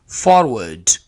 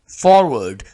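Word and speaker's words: forward: है कि नहीं करना क्योंकि हम इसको थोड़ा सा साइलेंट कर देते हैं तो महसूस य होता है लगता य है स्टूडेंट्स को कि यहां पर हमने आर को ऐड नहीं करना हालांकि यहां पर आर लेटर ऐड होगा तो इसके स्पेलिंग ये वाले करेक्ट होंगे फॉरवर्ड फॉरवर्ड हल्का सा हमने इस वर्ड को इस लेटर को बोलना है फॉरवर्ड फॉरवर्ड का माना क्या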